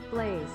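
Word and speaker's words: Blaise: all right it's a it's a french name all right that's interesting interesting but uh how about pronunciation blaze oh it's apparently blaze all right uh okay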